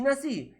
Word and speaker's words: nací: en ambas palabras claro así es la pronunciación verdad nació y nací y además esto está